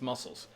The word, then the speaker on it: muscles: And the C is silent. It's muscles. Just like the delicious shellfish.